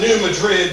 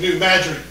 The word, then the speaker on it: New Madrid: the middle of the New Madrid zone. Or what some people that pronounce things better than me say, New Madrid zone.